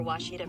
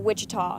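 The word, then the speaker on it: Ouachita: Searching for Washita Baptist University. Back in Texas, everybody pronounces it Wichita, but really, it's Washita. Washita.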